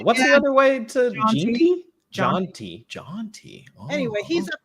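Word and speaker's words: Jeanty: How do you pronounce his last name, Chris? Genty.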